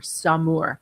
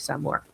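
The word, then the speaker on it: Saumur: got to look and look for sau Mur Samour. That's what you're going to see more than Japanese samur.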